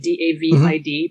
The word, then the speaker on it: David: is spelled like david d-a-v-i-d pronounced david in spanish and it's well known